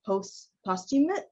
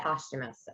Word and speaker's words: posthumous: was liking this is it posthumous is it post costume uh like i didn't know that's how i was pronouncing it it's posthumous posthumous i was saying a posthumous but it's posthumous you may have heard of some folks who